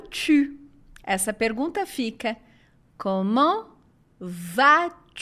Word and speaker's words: tu: E o tu não é o biquinho, porque a letra U sozinha não tem som de U, tem som de U.